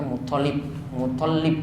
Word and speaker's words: Muttalib: Sebenarnya toknya yang ditasydid. Kita sering baca Muttalib, ya. Namun toknya yang saya dapati itu yang ditasydid, bukan lamnya. Tapi saya belum cek ini riwayat yang tepat untuk penyebutan nama Abdul Muttalib itu.